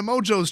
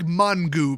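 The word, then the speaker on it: Mongeau: let's go to tana mojos channel which i swear to god it's not freaking pronounced mojo okay she made that up it's like mangu basically in fact I should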